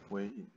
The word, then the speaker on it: weighing: Weighing.